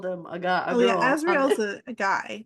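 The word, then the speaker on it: Azriel: like and hear that so it's Cassian azreel so you know how to pronounce his name okay I would have pronounced it Israel Amron and then see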